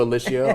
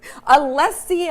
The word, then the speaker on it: Alessia: Thanks to Alicia, our wonderful production Oh, assistant. yes, of course you pronounced it wrong, though. Alessia.